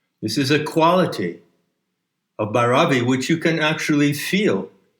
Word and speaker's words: Bhairavi: Let's return to the current shift of Bhairavi. I believe the correct pronunciation puts the accent on the first syllable. So what are the themes? What are the lessons? What are the moods of Bhairavi?